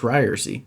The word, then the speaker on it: Ryerse: social media ryerson it's pronounced ryersy by the way uh also should shoot